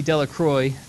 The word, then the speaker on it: Delacroix: harry jones and dicky delacroix the villagers pronounced this name de la croix eventually made a pile